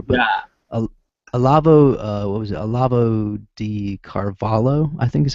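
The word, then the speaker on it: Olavo de Carvalho: Olavo di Carvalho, I think is how you pronounce his name. Yeah. Are you right on chat? What is that? Are you right? Wait. It's Olavo di Carvalho.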